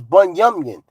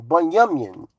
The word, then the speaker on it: Benjamin: The The correct pronunciation pro pro pronunciation to say it is Bun Yamin, the tribe of Benjamin, Bun Yamin in the pure Hebrew language.